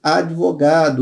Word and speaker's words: advogado: Outro problema, advogado. Pronúncia equivocada. O certo é o quê? Advogado. O D é mudo, como a gente diz popularmente. Então, erro de grafia, de